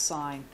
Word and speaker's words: sine: are often abbreviated as sine s i n cosine and tangent even though this looks like sin it's pronounced sine we're going to go